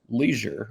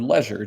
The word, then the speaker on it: leisure: rack it does play that word is Leisure or Leisure depending on where you're viewing from and how you pronounce that l-e-i-s-u-r-e uh two